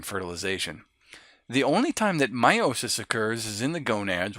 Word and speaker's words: meiosis: here that's how you pronounce then it spelled me I OSIS but it's pronounced meiosis so what meiosis is is it